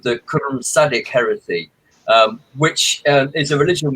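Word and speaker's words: Qu'rrmsaddic: I'm at a loss as to how to spell that. Q-U apostrophe R-R-M-S-A-D-D-I-C, Sadik.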